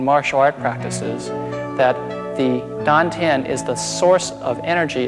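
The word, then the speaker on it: tan tien: Chinese is called the dant t a n t i n pronounced like a d the dant translates into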